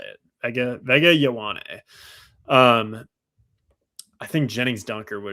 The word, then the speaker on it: Vega Ioane: That's the way it goes, So we got the Chargers on the clock here, and you took Vega Ioane earlier. Ioane. Sorry, that's how you say it. Vega Ioane.